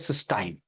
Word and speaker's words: cystine: And now this dimer is called cysteine, although pronounced as cysteine, but to differentiate, now I pronounce it as cystine.